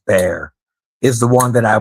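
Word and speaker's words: Bexar: um, the tactile knives bear bx a r bear but pronounced bear is the one that I would look into.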